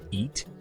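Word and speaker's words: ит: the Kazakh word for dog is pronounced eat 21 Kazakhstan was one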